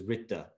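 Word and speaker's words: Ṛta: The Sanskrit for that is Ritta, it's spelled R-T-A, which is that there's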